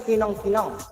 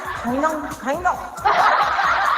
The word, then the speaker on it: kinang: You are saying in Tagalog, the pronunciation in Tagalog is kinang. But for me, it's kainang.